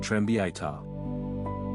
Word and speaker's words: трембіта: Its Ukrainian name is trembita, written and the stress falls on the second syllable, trembita. The instrument is strongly